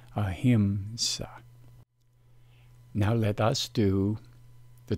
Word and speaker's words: ahimsa: Sanskrit along with its transliteration and it is pronounced a hint saw the problem of mispronunciation is shown here the Sanskrit is the same but the original transliteration has changed into the inaccurate popular pronunciation as shown here the transliteration is not accurate and as a consequence the mispronunciation occurs this term is pronounced ahimsa now let us do